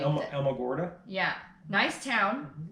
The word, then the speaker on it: Alamogordo: I cannot pronounce the name. Alamogordo. Yeah, nice town. Alamogordo, New Mexico.